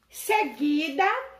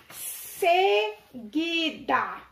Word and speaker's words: seguida: Quando você pronuncia uma palavra, como tem aqui, ó, seguida, vocês percebem que o U, ele não foi pronunciado.